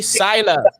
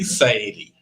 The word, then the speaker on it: Saili: Sila. Welcome, sir. How you doing? Can you pronounce my name properly? It's Saili.